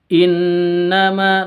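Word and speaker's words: إِنَّمَا: boleh 5 sampai en Oke innama Nun tasdid gunah musyaddadah dengung Ma innama panjang dua harakat qolu innama nahnu Muslihun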